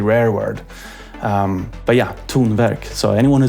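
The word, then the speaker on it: Tonverk: correct pronunciation of tun it's also a combination of two Swedish words um well it's technically also a word but very very rare word um but yeah tun work so anyone who says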